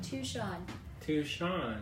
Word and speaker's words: Touchon: No G. Pronouncing. Touchon. It's like Tucson. Yeah. But not.